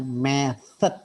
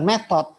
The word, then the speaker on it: method: Itu bacanya kan method dengan method dengan Method. Ya, bukan metode. Bukan metode. Saya sih metode apa ini bilang method. Orang saya bukan metode tapi method. Ya, method dengan method ya.